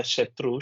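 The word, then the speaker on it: शत्रु: And the Tru in the Shatru should be high. Shatru.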